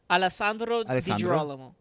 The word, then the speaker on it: Alessandro: Alandro.